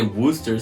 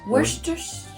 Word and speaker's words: Worcestershire: Some people say Worcester sauce, and I'm like, bitch, what are you talking about? Worcester. I think the cess is silent. Worcestershire sauce? Worcestershire.